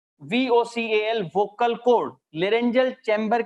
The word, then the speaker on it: laryngeal: लेरेंजियल chamber.